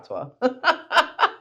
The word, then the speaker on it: patois: So do you speak patois? That's what it's called, right? Patois. Yeah. I don't know how to pronounce it. No, it's okay. You didn't say it wrong, but it's patois.